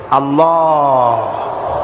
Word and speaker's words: আল্লাহ: নাম কি আল্লাহ না কিন্তু মুখটা গোল করে উচ্চারণ করতে হবে সুন্দর করে আল্লাহ বলেন সবাই আল্লাহ দিল